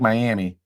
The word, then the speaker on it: Miami: can't remember but it's spelled like Miami they say miam Paris Texas maybe that